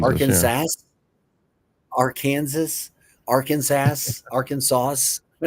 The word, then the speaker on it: Arkansas: I call it our Kansas. Arkansas.